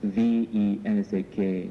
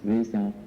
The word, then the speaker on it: Vesak: V-E-S-A-K, sometimes as W, because in the Indian language the V is pronounced as W. You know, when you ask the Indians to speak of vase, can you say vase? They will say vase. Oh, you see? So V and W. That is why we can either pronounce Vesak or Vesak.